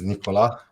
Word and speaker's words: Nikola: So, my name is Nicola and the surname is Radikovich. So, whoever else is listening now, he knows how to pronounce it.